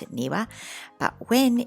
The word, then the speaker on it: 庭: newa so when it's on its own we pronounce it niwa but when it's in combination as it is in this case with kate then it's pronounced tae again we'll start with the etymology and it's